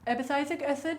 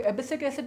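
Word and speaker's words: abscisic acid: एबिसाइसिक एसिड, या कुछ लोग एबिसिक एसिड बोलते हैं, कुछ लोग ABA बोलते हैं, डिपेंड करता है, अलग अलग उसके बहुत सारे प्रोनाउंसिएशंस होते हैं, आपको किस तरह का आपने सुना है।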